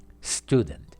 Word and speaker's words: student: s não diga student os brasileiros tem uma mania de colocar uma vogal na frente do s em inglês não é não tem o